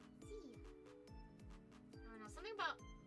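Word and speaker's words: Szia: See ya. I don't know, something about seeing how it's spelled the S-Z-I-A.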